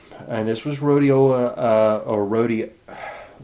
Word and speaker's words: Rhodia: We find a mention of rhodiola, and this was rhodiola or rhodia. How do you pronounce it? Rhodia, not rhodiola, but rhodia radix.